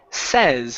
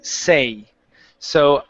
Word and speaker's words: says: definitely going to be say so I say but when it switches to third person okay with the S at the end this word changes to says it changes to a short e sound okay so let's try